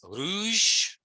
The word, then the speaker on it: rouge: say it in French red is Rouge Rouge it's nice if you can roll the r but if you can't it's perfectly fine to say Rouge purple is Violette violet